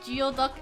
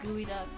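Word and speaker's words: geoduck: geod duck that's why I pronounced geod duck as geod duck instead of gooey duck oh dude I I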